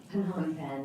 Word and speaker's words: Phnom Penh: Phnom Penh.